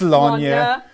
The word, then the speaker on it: Sláine: our Brit wrote my notes for me and was like, It's Sláine. and then be sure to pronounce it Warhammer 40,000.